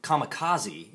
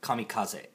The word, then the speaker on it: kamikaze: I always hear people pronounce it Kamikaze instead of Kamikaze.